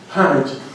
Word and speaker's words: homage: As an homage to you, but homage to the way you really should pronounce it, the way it's pronounced in Washington, D.C., homage.